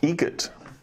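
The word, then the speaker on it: Eget: How do you say the name? Adam Egget. Egget. Spelt differently. Like the bird. That's Egret.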